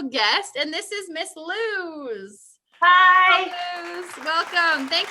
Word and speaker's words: Luz: Well, my name is LUZ. Well, how do you spell it, by the way? Maybe some. It's spelled L-U-Z, as in LUZ.